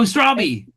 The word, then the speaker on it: Straube: Oh, Strawby. Yeah, that's right. Oh, Lindsay. Strawberry. Strawby. Strawberry. Yeah, rhymes with Joby.